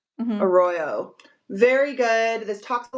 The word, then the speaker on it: Arroyo: Arroyo. Arroyo.